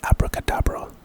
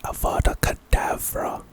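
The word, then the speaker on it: Avada Kedavra: for sure pronunciation A A lot of people whenever they pronounce this spell they think it's Abracadabra but it's aada kadavra kadavra and this is the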